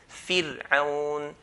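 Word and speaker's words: فرعون: Next situation, if ra has a sukun, we look at the previous letter. If he has a kasra, then we pronounce ra in a light manner. Fir'aun, fir, not fir, but fir, fir'aun.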